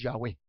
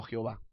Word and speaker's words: Yahweh: Yahvé o Jehová, que en realidad el más cercano es Yahweh, no Jehová.